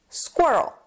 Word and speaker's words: squirrel: bit harder to pronounce is just two syllables and it goes like this squir and then the second one oh squirrel there's just a schw sound squirrel so let's say